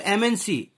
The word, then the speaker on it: MNC: Because here, if you pronounce this MNC, so MNC, if you see, if you pronounce this M, its pronunciation is like AMM.